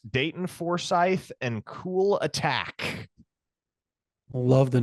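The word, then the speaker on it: Kulatak: stop stop stop trying to get the correct pronunciation in my head Brandon attack attack it is it is cool attack that's the way it is it is what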